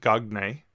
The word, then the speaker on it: Marcel Gagné: And I didn't pronounce it Gagné, as you might have seen if you see the name.